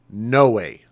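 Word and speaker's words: Noé: of of n-o-e and he actually pronounced it no way like no way like no way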